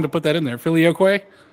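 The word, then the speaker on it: Filioque: Filioquay. Really? Let's do it. I'm gonna go with it, man. If you he took the time to put that in there. Filioquay.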